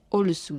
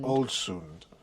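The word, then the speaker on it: Ålesund: Um but there was a a trout salad that said it was from Can you pronounce the city we were in today correctly again? Olsund. Olsund.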